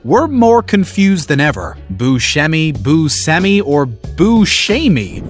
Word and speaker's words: Buscemi: Sicily that he noticed Italians were saying it more like Boucher me that's another way to say it the actor told